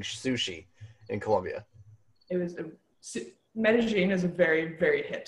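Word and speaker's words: Medellín: Medellin is spelled M-E-D-E-L-L-I-N, but it's not Medellin. It's Medellin.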